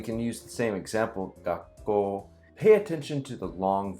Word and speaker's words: がっこう: Take the word gakko, for example. It's actually 4 moras. Even though it is 2 syllables, gakko, but it's 4 moras because it is ga, chisai tsu, ko, and u.